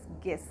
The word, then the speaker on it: guess: GUESS, गेस, गेस होता है अनुमान लगाना।